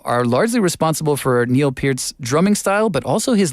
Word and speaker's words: Peart: Before we get to Ginger Baker, Neil Peart is often, and I think there's confusion. How do you say it? It is Peart. Neil Peart, not Neil Peart, which, I get it. The spelling is not clear.